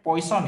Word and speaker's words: Poisson: Poisson dan persamaan Laplace, ini memang tulisannya Poisson ya. Cuman ini dia nih orang Prancis, jadi bacanya Poisson.